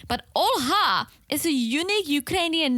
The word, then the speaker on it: Olha: It's also, you can also say Olga and spell it with a G, but Olha is a unique Ukrainian name.